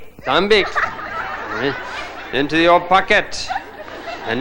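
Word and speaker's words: tạm biệt: Tambi. Tambi.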